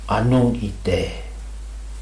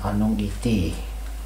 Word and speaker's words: Anung Ite: The sound of the words that you have in there, Kate, E is pronounced like an A, Kate, or Anung Ite. It's not Anung Iti, you pronounce E like an E, but you have a mark on top of the Kate.